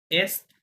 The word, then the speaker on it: est: নাম, এটা নর্থ, সুদ, এস্ট, ওয়েস্ট। নর্থ, সুদ, নর্থ, হ্যাঁ, এটা ডি সাইলেন্ট, এটা সুদ, এখানে ডি উচ্চারণ হবে, আর এটা এস্ট, এটা তিনটা লেটার উচ্চারণ হবে, এস্ট, হ্যাঁ, ইস্ট, এটা হচ্ছে ওয়েস্ট, ওয়েস্ট, ওয়েস্ট, এরকম।